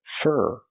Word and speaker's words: for: For that for that not for that, but fur. Use the er sound like burger.